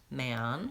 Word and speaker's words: man: I would suggest trying practicing that man so that vow ah is in both words that man and ten men vowel F in both of those words so if I'm going from man to men by itself can be challenging that man ten men helps separate those vowels and helps me hear and distinguish them when I'm pronouncing those two words another example live and